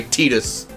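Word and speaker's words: Tidus: like Titus and he runs around going by teetus because you know t-this is apparently the proper pronunciation gotta go cheer for me hey I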